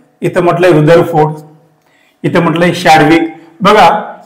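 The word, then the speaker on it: Chadwick: इथ म्हटल शाडविक बघा शडविक आणि चॅडविक जर तुम्ही मराठीनुसार उच्चार केलात तर त्या स्पेलिंगचा उच्चार होतो चॅडविक पण इंग्रज लोक म्हणतात शडविक खरं स्पेलिंग अस आहे बघा इंग्लिश मध्ये सी एच ए डी डब्ल आय के मग हे जे आहे चॅडविक म्हणायचं नाही याला शडविक म्हणा बरोबर आहे पण तुम्हाला जर स्पेलिंग नुसार जायच असेल तर चॅडविक म्हणू शकता पर्याय दोन्ही आले तर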